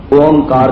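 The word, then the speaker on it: ਓਅੰਕਾਰ: मैनू क्षमा करना कि जिस तरह इसका असी उच्चारण करते हाँ, ये अखर सही उसे तरह लिखिया नहीं गया, लेकिन बाणी की खोज ते विद्वानां के मत अनुसार इसका उच्चारण जिहड़ा है ओंकार किया जाता है।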